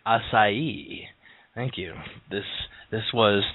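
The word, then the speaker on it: açaí: here on a small issue but it's actually pronounced assai asai thank you this this was today's culture lesson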